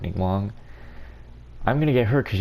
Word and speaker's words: Ningguang: Obviously, I gotta get, I forgot how to say her name. Ningguang? Pretty sure that's correct, Ningguang.